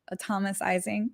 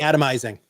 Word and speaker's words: atomizing: Okay, so anything else that advisors should know about atomicizing? Did I say it right? Atomizing. Atomizing. Yeah.